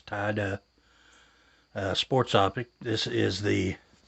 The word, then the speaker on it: Tydeux: This is the Tydeux, and I did Google that, and that's how you pronounce it. It's Tydeux sports optic.